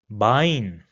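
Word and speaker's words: Bein: have similar pronunciations and both of them are pronounced as I in English. So for example this word over here will be pronounced as dry which means three d. Another example will be bine which means leg bine.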